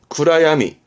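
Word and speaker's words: 暗闇: 발음은 구라야미.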